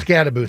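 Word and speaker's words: Skattebo: him and uh what Sabado or however you pronounce the running back. Uh the Scataboo. Scataboo.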